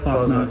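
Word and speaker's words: Fastnacht: Fosnut.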